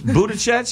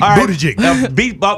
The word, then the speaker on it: Buttigieg: Yeah, and because she Buttigieg, am I saying it right? Buttigieg. Jig. No, you've literally never said it correctly. I just want you to know, not one time. Pete Buttigieg.